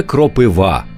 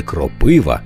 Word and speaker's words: кропива: правив і ця пісня принесла в маси правильний наголос саме кропива а не кропива як часто калькують з російської далі якщо ви вагались